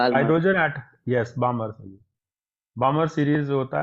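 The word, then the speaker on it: Balmer: बा hydrogen eight yes बामर बामर series होता है व बाल एल नहीं बोलते उसमें बामर हो जाता है बामर एल साइलेंट हो जाता है कुंड में भी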